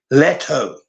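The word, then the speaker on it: Steve Lehto: Le H some people say letho but he pronounces it l h t o Leto but anyway someone tried giving $120,000 to juror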